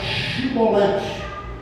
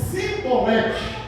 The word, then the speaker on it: chibolete: Eles falavam cibolete e não chiolete. E na hora da pronúncia, em vez de falar chiolete, ele falava simbolete.